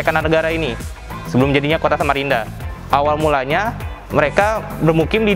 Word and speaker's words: Samarinda: Awalnya itu Samarenda, tapi lambat laun perubahan pengucapan jadi Samarinda.